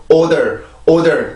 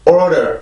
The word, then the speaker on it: order: 근데 order 이렇게 발음을 하진 않고 order, 아주 약한 R 발음이 들어가긴 해요.